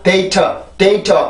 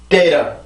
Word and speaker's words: data: 그래서 그냥 data 이렇게 해도 틀린 발음은 아니지만 대부분 더 가볍게 하면 이렇게 발음이 되죠. 그래서 발음을 해보면 data. 다시 한번 data.